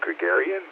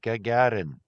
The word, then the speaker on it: Gagarin: Was Yuri Yuri Gregarian, something like that. I don't know if I have the pronunciation right. Yes, Yuri. Yes, I know him well. Omrad Yuri Gagarin.